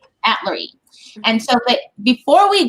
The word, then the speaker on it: Atluri: And is it, how do you say, Atluri? Atluri.